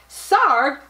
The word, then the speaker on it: Sarg: anthony tony fredrick sarb sarg rhymes with arg i wonder if he